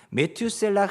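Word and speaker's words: מתושלח: 물론 뜻이 있지만 일단은 히브리어로 발음은 이렇습니다 메투셀라 그라고 해요이 이름의 뜻은 창을 던지는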